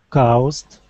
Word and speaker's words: caused: Caused. Okay. Instead of ow. Okay. Caused. Just like the word ought, we say caused.